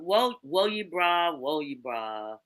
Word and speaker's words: Wo Ye Bra: But woe you bra.